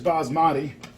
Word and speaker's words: basmati: Okay, the next step here is to finish off this this basmati rice, and yeah, that's how you say it is basmati.